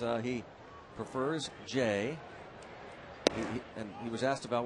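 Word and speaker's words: J. A.: only to him he says uh he prefers Jay and he was asked about well then why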